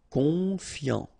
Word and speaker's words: confiant: Confiant, okay, final T not pronounced, so O-N, on, I-A-N, ian, confiant, confiant. Attentionné, okay, at the end